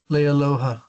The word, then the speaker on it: Leialoha: How do you pronounce his name? Leialoha.